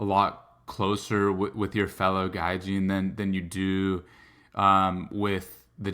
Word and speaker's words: gaijin: You corrected me a bit ago about the pronunciation. Gaijin.